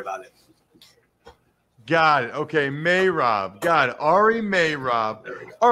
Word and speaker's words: Meirov: You know, the way you pronounce it is the way everyone pronounces it at first, but it's really Meirov, not Meirov. So like the month of May and then Rove.